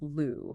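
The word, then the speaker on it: 路: Which in Chinese is pronounced lu, right?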